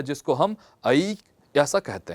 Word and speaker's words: ऐ: इनका उच्चारण ऐ है, औ है। सामान्यतः जो विद्यार्थी हैं वे इसका उच्चारण ए ओ औ करते हैं, परंतु संस्कृत में इसका उच्चारण ए ऐ ओ औ ऐसा उच्चारण हम करते हैं और यही शुद्ध उच्चारण है।